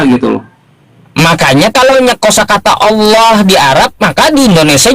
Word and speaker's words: Allah: Cobaan coba dijelaskan ada ada berapa ada berapa berapa kategori kata penulisan A L H. Maka sebagai orang Indonesia kita membacanya Allah.